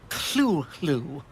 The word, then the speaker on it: Cthulhu: Ah, Cthulhu. Mr. Lovecraft? Sorry, that is the correct pronunciation.